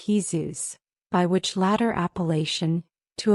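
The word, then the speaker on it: Jesús: The reader will perhaps be shocked to hear that his name was Jesus, pronounced in Spanish Jesus, by which latter appellation,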